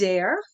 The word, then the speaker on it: Zare: what you do there rhymes with care starts with a z for zestful and uh I am